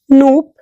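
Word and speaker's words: Knoop: the indentation is made loop and vickers micro indentation hardness tests two other hardness testing techniques are nope pronounced and vickers sometimes also called diamond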